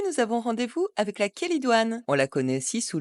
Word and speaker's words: chélidoine: Avec le che qui se prononce que, l'origine grecque du mot kélidoine ne fait guère de doute.